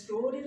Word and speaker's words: story: এই যে এখানে স্টোরির উচ্চারণটা আমরা খেয়াল করব, এটার উচ্চারণ এরকম হবে, স্টোরি। এই যে একটু টেনে, এই মাঝখানের ওটাকে একটু টেনে, এটাকে বলে লং আ সাউন্ড।